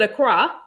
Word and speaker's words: Accra: That's how you pronounce it, Accra. Yeah, yeah. Okay. That's how I've pronounced it, and that's how it was confirmed.